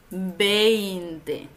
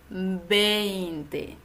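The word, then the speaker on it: veinte: dos letras Así que la v Normalmente se pronuncia como una B en español otra dificultad que tiene este número es el diptongo e i en español Recuerda que el número se dice 20 20 y no decimos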